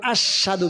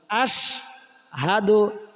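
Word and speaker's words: أشهد: কেউ কেউ আশহাদু বলে, আশহাদু না, আশহাদু। হামজা শিন জবর আশ, হা জবর হা, দাল পেশ দু।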